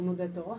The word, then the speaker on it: NUDETOR: Não, e eu nunca entendi porque o Nudetor, né? Essa é a pronúncia.